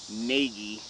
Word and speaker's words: Nagy: Nagy. That's how you would like it to be pronounced.